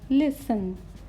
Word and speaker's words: listen: silent in these words first is listen not listen the correct word is listen Sunnah often often aksar